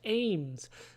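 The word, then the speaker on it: AMWS: Next up, we have AIMS, short for Assault Maneuver Weapon System, pronounced like AIMS, a term used for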